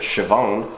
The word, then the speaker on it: Siobhan: I later found out you pronounce it Siobhan, even though there's a B in it.